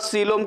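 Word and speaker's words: coelom: इसके बाद सीलोम की बात करते हैं। सीलोम में ओ साइलेंट है, याद रखना, ई कहीं खेल है, ये ई का खेल है।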